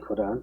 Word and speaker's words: 거란: 거란 음차로 썼기 때문에 거란이라고 읽어야 됩니다. 뭐 그냥 한자로 하면 계단이지만은 거란으로 읽고 그 다음에 몽고 그 다음에 금.